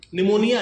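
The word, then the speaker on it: pneumonia: उसका नाम है निमोनो पी से शुरू होता है निमोनिया है पी से लेकिन पी जो साइलेंट है तो निमो अल्ट्रा माइक्रोस्कोपिक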